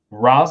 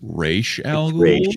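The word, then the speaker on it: Ra's: and in first place raz al ghouls with 10 points perfect score uh excuse me it's pronounced race you nerd all right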